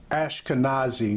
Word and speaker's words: Ashkenazi: Sorry, folks, I had mispronounced the word. It's Ashkenazi, not esoteric.